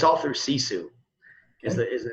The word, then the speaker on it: Sisu: before, but the company we use is called Sisu now. Can you spell that for us?